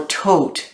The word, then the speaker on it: Thoth: But people forget that the Thoth decks come from the book of Thoth, or Tot is how it's said in the Egyptian culture.